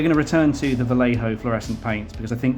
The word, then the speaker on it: Vallejo: Uh, in all seriousness, I know that the uh, brand is Vallejo, but it's a bit of a nod to my original video where I kept saying it wrong. Um, but in fairness, if they're not going to spell color correctly, I'm not going to pretend a J is a H either.